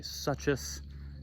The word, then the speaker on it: suchus: Some people say suchus, and if that's the proper pronunciation, well, I'm not saying it because I think that sounds stupid. So I'm gonna say sucus because it sounds cooler.